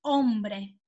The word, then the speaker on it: hombre: Uomo significa in spagnolo hombre, anche si scrive con la H ma non si pronuncia, sì?